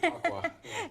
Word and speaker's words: Chautauqua: McMillin, is the Winter Chautauqua. Did I pronounce that right? Yeah, Chautauqua.